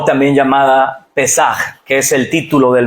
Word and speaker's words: Pesaj: La palabra Pesaj o un poquito más fuerte en la pronunciación, Pesaj, no sé cómo se pronuncia, pero nos habla de la Pascua.